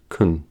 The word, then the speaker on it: can: The clue is that the positive form, can, is normally unstressed and is pronounced as kun.